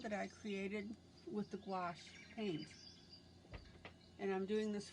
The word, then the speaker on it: gouache: you how to use the gouache paint which rhymes with squash and i have been